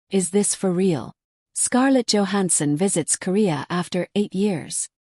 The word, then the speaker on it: Scarlett Johansson: Although her name is correctly pronounced Scarlett Johansson in American English, it can sound awkward in Korean.